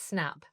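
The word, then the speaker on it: SSNAP: And you touched on it earlier, is it SNAP, or would you say it like that? Yeah, okay. SNAP. Okay. But it's a double S.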